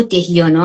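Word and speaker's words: dhyana: به این پنجمی که میرسیم حالا دوباره بهش برمیگردیم: دارانا، دیانا، حالا اینا دهارانا و دهیانا هم تلفظ میشه، و بعد سامادی.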